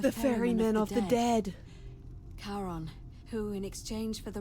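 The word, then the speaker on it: Charon: is a little off the name you heard wasn't Karen it was c h a r o n as in Kon the the Fairman of the Dead Kon who in exchange for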